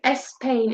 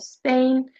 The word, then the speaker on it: Spain: they often insert an extra vo such as I mentioned saying es Spain instead of Spain similar to espana in Spanish.